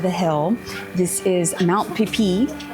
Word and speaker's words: Pipet: This is Mount Pipet, P-I-P-E-T, but pronounced Pipet.